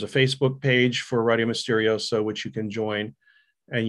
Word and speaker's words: Misterioso: It's called Radio Misterioso, RadioMisterioso. It's spelled like Spanish, Misterioso.